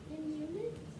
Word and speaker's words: Inuit: Most Greenlanders are native people called That is a long U. Everything else sounds exactly how it's spelled. Confidence. Inuit. Not in unit. There's no N.